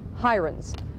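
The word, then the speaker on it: Heirens: knew him as William Harens today Harens and his supporters pronounced the name hirens despite the Prejudice associated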